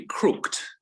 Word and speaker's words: crooked: i asked yeah and notice that word that ed normally you you would crook as one syllable right and normally when you add ed you don't make it an extra syllable do you it should in modern english it should be crooked yes but because probably